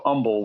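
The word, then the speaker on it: Humble: by the city of Umble, which is spelled hu mle e, but we don't pronounce the h.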